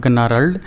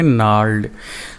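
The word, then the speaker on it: gnarled: इसको गनारल्ड या जनारल्ड नहीं पढ़ेंगे, इसको पढ़ेंगे जी साइलेंट रहेगा, ये जी बिल्कुल साइलेंट रहेगा, इसको पढ़ेंगे नार्ल्ड।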